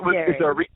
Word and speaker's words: Gehry: the last person in your book is Frank Gehry. Is that how you say his name? Yes, Frank Gehry.